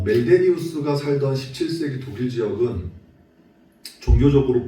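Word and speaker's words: Meldenius: 멜데니우스 발음이 어렵네요.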